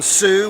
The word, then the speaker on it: Tsu: I'm at Duncan on Sue, which if you don't know about Sue is an amazing context where people like the platform actually pays you for your content.